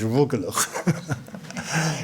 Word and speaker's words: rugelach: And finally, I would just say to Shahita that the pronunciation of the Jewish pastry is rugelach.